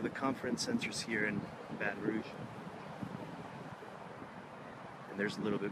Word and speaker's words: Baton Rouge: I guess the correct pronunciation in French would be Baton Rouge.